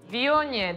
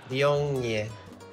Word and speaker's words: Viognier: Viognier. Do you know how to pronounce it? Viognier.